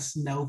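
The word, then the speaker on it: sneaux: we do a day it's called snow day and it's spelled s-n-e-a-u-x our cajun style of spelling and basically what we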